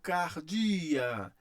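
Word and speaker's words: καρδίᾳ: Eu leio cardia, cardia.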